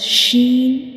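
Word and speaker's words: شين: When we pronounce Sheen, we will touch the center of the tongue to the upper hard palate.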